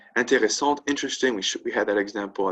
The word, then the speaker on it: intéressante: Intéressant, interesting. We had that example at the beginning. E, feminine, no E equals masculine, right? Intéressant and then intéressante, right? That's the key difference in the pronunciation.